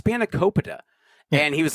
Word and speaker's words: spanakopita: And, he's not even pronouncing the food correctly. Oh, with the spanakopita? Yeah, it's spanakopita.